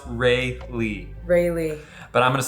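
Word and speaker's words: Rayleigh: is pronounced Raleigh. Raleigh. No, I'm just kidding. It's pronounced Rayley.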